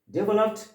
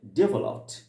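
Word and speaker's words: developed: জাতি, তার মানে কি ডেভেলপড নেশন। এখানে একটা কথা বলে রাখি, অনেকে আমরা ডেভেলপ উচ্চারণ করি, উচ্চারণটা সঠিক নয়, উচ্চারণটা আমেরিকান স্টাইলে হবে ডেভেলপড, ডেভেলপড, ওকে, ডেভেলপড, ওকে, উচ্চারণটা হবে ডেভেলপড নেশন, ওকে।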